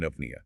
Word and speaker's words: eupnea: And then the letters EU at the start of a word combine to make a U sound, like in apnea, which means normal, unlabored breathing.